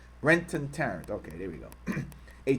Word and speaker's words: Brenton Tarrant: On Friday, Brenton I was saying his name wrong. I'm sorry. It's Brenton Tarrant. Brenton Tarrant.